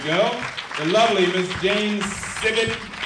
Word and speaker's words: Sibbett: the lovely miss james civic he told me to pronounce it like a frog simon david newsome the